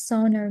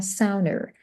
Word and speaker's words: sauna: So, what does sauna mean? There are two ways for you to pronounce the word. You can say sauna or ser. Okay. Sauna or sounder.